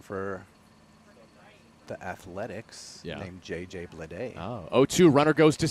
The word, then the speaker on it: Bleday: And Bleday is B-L-E-D-A-Y. So they're all spelled differently. Homophones, though.